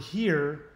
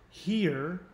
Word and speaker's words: here: forbear and the word here no longer work but i do agree with him that here was not pronounced here but pronounced her so um if i